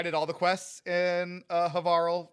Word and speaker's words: Havarl: I did all the quests in Havarl, Rhymes with Carl.